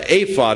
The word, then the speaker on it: ephod: be that Gideon's purpose in this e uh apod is what how it's actually pronounced that the purpose in the apod was uh to ascertain God's will he made